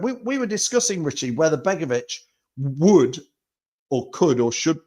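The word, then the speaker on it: Begović: Begovic. There we go. Get it, a Begovic. It's like, I need to sound like a dog. Signs for us on a 1-year contract. We were discussing, Richie, whether Begovic would or could or should be or not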